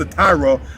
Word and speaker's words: Tyre: defeating the people of Tyre. The people of Tyre, or Tyre, pronounced Tyra by some people, was the people that